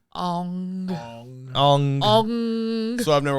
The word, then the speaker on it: Aang: Ong. Ong. Ong. So I've never watched the anime or read it. Oh, Like, Oh, That's understandable. that's understandable. It's Aang.